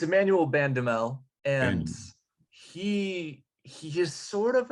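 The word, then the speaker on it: Emmanuel Bandoumel: Jimmy, you give me that pronunciation. It's Emmanuel Bandamel, and he is sort of a scoring transfer.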